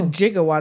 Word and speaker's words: gigawatt: back to the future a gigawatt is a billion Watts so it's a jigawatt that's just how he pronounces gigawatt I think so okay